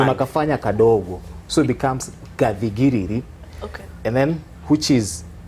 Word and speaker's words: Gathigiriri: So let's talk about, first of all, I'm sure I'm pronouncing it wrong. It's Gathigiriri. Gathigiriri.